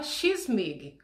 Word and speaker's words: Kyss mig: Mig, M-I-G, mudo no final. E aí a pronúncia é X-Mig.